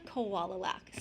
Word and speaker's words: Kowalalak: I don't know if you want to hear, how do you say the last name? Okay. Kowalalak. So I just think of koala bear.